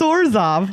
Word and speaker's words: Orzhov: Well, the little ghosts made me think that it's Orzhov. I'm going to give you a clue. It rhymes with Borzov. Is it Orzhov?